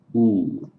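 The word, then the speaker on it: お: in English or not the difference between Japanese oh and English o because in English we make it a diphthong without really thinking about it it's not just oh it's o it's an O and then a u put into a diphthong in Japanese it's just one straight pure vowel oh okay next the K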